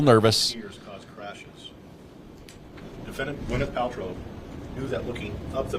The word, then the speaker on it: Paltrow: He said Paltrow instead of Paltrow.